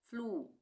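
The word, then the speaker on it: flue: उसी तरह से फ्लू फ्लू एफ एल यू ई फ्लू यहां पे लिखना भूल गई। फ्लू ठीक है। क्लू सी एल यू ई क्लू। एस यू ई सु यहां पर सब में बड़े ऊ का उच्चारण हुआ है।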